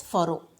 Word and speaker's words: pharaoh: So, the Egyptian kings were called as pharaoh, okay. You need to pronounce it as what? Pharaoh, Pharaoh, okay, pharaohs.